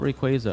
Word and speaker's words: Rayquaza: Ask so many people, why do you call it Rayquaza and it's Rayquaza?